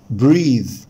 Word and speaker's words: breathe: طبعا الناس بتنطق كلمة يتنفس بريث حبايبي، بريث ده النفس، اما كلمة يتنفس فهي بريث بريث بريث. طبعا التي اتش ساوند هنا ذا مش ثا، فعشان كده بقول بريث بريث breathe.